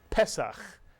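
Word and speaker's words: פסח: 2 vowels, 2 syllables. The segol under the first letter means we accent the first syllable. Pesach, mitsuyan, Pesach.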